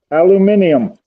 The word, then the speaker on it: aluminium: Aluminium. Technically, that is how it is spelt. That is also how it is actually pronounced in, the scientific world, because that's scientific spelling and pronunciation.